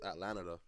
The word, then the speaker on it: Atlanada: pronounced it wrong. Yeah, yeah, yeah. Trip, but yeah, it's just Atlanada.